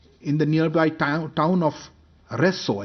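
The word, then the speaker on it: Rzeszów: the nearby town of resso i think it's pronounced reso and a number of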